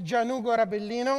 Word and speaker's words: Gianugo: So, the way to pronounce my name is Januino. I'm an Italian guy.